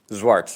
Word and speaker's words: Zwart: Zwart for plaintiff appellant Cesario Medina. I would like to. How do you pronounce your last name? Zwart? Zwart. Zwart? Yeah, it's Dutch.